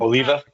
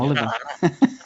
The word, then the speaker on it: Oliva: Uh although we first see Wallace and uh Oliver, how do you how do you say his surname? Oliva. Oliva. Have I been saying it wrong all season? I called him Oliver.